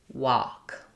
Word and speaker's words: walk: You might be thinking, not understanding what the letters AL say in this word, that the L is silent.